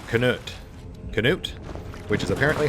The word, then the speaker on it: Canute: Canute? Which is apparently how his name is pronounced.